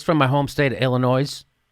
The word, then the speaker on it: Illinois: from my home State Illinois you're not supposed to pronounce the s this is uh from